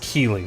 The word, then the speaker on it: Keeley: It's pronounced Keeley, by the way.